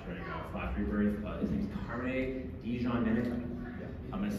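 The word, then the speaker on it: Carmine Di Giandomenico: His name's Carmine DiGiandomenico.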